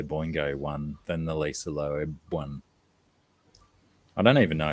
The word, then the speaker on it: Loeb: Do you just say Loeb, like earlobe, I think so. or do you Lisa have Loeb. to enunciate the E?